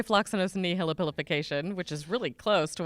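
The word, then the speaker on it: floccinaucinihilipilification: I don't even know if the correct pronunciation is what I say. I say floxacinosinihipilification, which is really close to what you just said.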